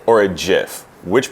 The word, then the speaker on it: gif: are either called a gif or a jiff which pronunciation is it that's just how I pronounce it I go with it I go as gif as well to me Jeff is peanut butter top-of-the-line about it okay